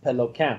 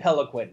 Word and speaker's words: Peloquin: It's a French Canadian name that's pronounced Peloquin, but I don't want to sound like a total douchebag, so I just tell everyone, just call me Peloquin.